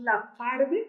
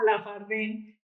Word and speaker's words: Labfarve: te cuento Pues que nosotros le decimos la farde como con el acento en la segunda pero está muy bien No te preocupes porque muchas personas lo conocen como la farden y además como que ese nombre le suena más familiar como si fera un